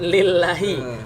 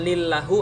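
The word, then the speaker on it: لِلّٰهِ: Lam tadi itu benar lillahi. Bacanya bukan lillahu atau lillaha.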